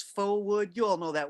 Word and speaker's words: faux: she could have easily told me, oh, it's faux wood. You all know that word faux. I see it. It's very, very folk looking, this thing. But the word faux is spelled F-A-U-X, and we think of it as just fake.